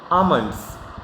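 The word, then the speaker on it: almond: क्या बोलते हैं इसको आल्मंड 09 रोम आमंड ऑयल वहां पर साइलेंट होता है अमाउंट 11वां मंच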